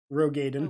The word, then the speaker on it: Roegadyn: Tell me how to pronounce it again. Roegadyn. Roegadyn.